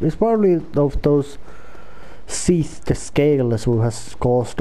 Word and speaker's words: Seath: first opening cutscene did mention Seath. That's how I pronounce his name. Its name Seath, like a seat, but with H added to it just to make it sound more menacing.